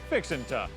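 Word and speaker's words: fixin' to: spelled as fixin two you pronounce it fixinta it's simply an expression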